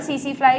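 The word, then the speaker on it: tsetse fly: तो अगर सीसी फ्लाई किसी ह्यूमन बीइंग को काट ले, बाइट कर ले, सीसी फ्लाई में टी साइलेंट होता है, तो ये ट्रिपैनोसोमा को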